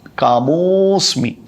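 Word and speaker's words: कामोऽस्मि: धर्मा विरुद्धो, धर्मा विरुद्धो भूतेषु, धर्मा विरुद्धो भूतेषु कामोस्मि, कामः अस्मि, कामोस्मि इस तरह से उच्चारण है।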